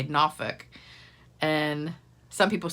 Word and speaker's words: Norfolk: You say it without the L, and you kind of don't really say the R either. A lot of people say Norfolk, and some people say Norfolk, but it just cracked